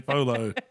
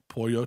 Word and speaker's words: pollo: Pollo tapatio. So I've learned it. Not polo. The gringo way is polo, but it's pronounced pollo.